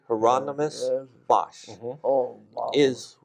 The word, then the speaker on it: Hieronymus Bosch: Am I pronouncing his name correctly? Hieronymus Yes.